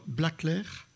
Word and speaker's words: Blackler: Et puis alors après, il faut dire Blaclair, voilà, Bergeau-Blaclair, qui nous arrive lointainement de Bordeaux, où elle a fait ses études et où elle a passé son doctorat.